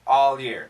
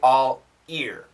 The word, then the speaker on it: all year: the l all year all year all year all year it's not exactly l e a r but it's similar do not say all ear that's really awkward first sentence very difficult